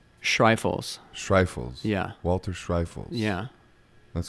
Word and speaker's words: Schreifels: how do you say your last name - strife fools yeah Walters rifles yeah that's cool thank you